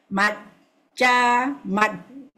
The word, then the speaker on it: majja: Matja. Remember the double J, so we must matja.